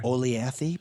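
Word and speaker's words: Olathe: Oleathy, perhaps? Oh, now you're showing off. Look at that, and you even pronounce it like the local.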